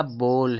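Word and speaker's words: bowl: यह बोल है दोस्तों। यह बोल है। बाउल नहीं है, यह बोल पढ़ा जाता है। यहां पे यहां पे जो ओ डब्ल्यू है, इस ओ डब्लू का उच्चारण ओ होता है।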